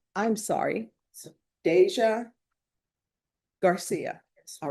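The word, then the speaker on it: Dasia: I'm pronouncing it that way because that's how she says pronounce it. But there is no way you're getting a J from a D A SI A.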